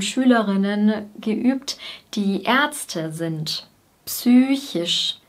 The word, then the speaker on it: psychisch: Psychisch. Wir sagen nicht wie im Englischen psych oder psychological, wir artikulieren das P wirklich.